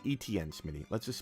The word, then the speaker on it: Etienne: No, it's Etienne, Smitty. Let's just spell it out.